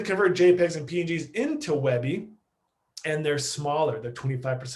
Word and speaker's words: WebP: webby which is uh i know it's kind of pronounced kind of weird but webby like that a webp so uh it is